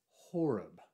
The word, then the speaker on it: Horeb: And here it's spelled O-R-E-B, where traditionally it's Horeb with an H at the beginning.